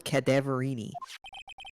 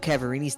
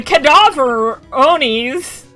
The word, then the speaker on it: Cadaverini: Bruto Cadaverini's the boss of the Cadaverini family. Everybody say it wrong every single time. Go. The Cadaveronis.